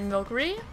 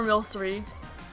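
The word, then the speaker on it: Milcery: All right, Milky or Milery. I've heard it pronounced both ways.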